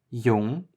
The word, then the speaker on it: Jung: First we have the J, or J, which is actually pronounced just like the Y is in English. Some examples: Jung, which is young, and Ja, which is yes.